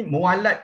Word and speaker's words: mualat: Disebut dalam formulasi ini mualat makan, bukan mulut. Ya. Kalau dilihat pada ejaan Jawi itu boleh tersalah baca mulut makan. Tapi pandangan saya ia harus dibaca sebagai mualat makan.